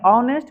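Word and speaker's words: honest: लगा देना है नहीं ऑनेस्ट बोल के तो देखिए ऑनेस्ट औ का उच्चारण हो रहा है औ का तो यहां पर वोवेल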